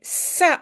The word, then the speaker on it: ça: N'oubliez pas la petite cédille, sinon c'est K. Hein? Et ce n'est pas K marche. Quand le C est suivi de A O U, je le prononce comme K. Sinon, je mets une petite cédille.